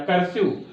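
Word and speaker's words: cursive: ई आया हुआ है, लेकिन फिर भी इसका प्रोनाउंसिएशन आई नहीं होता है, क्या होता है, यू होता है।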